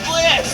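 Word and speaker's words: Blitzø: The name's Blitz. The O is silent.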